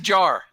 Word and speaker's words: Jahar: It's just Jar. Jar.